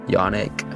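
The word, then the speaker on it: Yoneq: Yonic, I'll put it on screen. Yonic, like Sonic.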